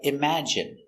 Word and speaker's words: imagine: And you have words like imagine. It has the short i sound. Imagine.